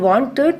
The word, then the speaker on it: wanted: In wanted, we are pronouncing little bit, the sound is coming little bit, wanted. So you can hear the ed sound.